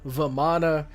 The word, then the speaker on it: Vamana: So, like, Rama, Ravana, Vamana, I've heard their names pronounced as Ram, Vaman, or Vaman, Ravan. So I just assumed that a lot of the characters in, like, Indian mythology and gods and stuff, you normally don't pronounce the A at the end.